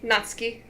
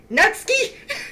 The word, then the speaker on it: Natsuki: do you say this not not Suki natsuki natsuki yeah there you go oh yeah sorry I'm